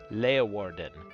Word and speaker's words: Leeuwarden: Leeuwarden. Okay. Okay, I wasn't that far off. Just needed to unelongate the E.